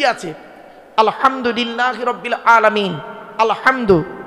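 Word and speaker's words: الحمد: আলহামদু, এ গলার ভেতর থেকে এটা উচ্চারণ করবেন।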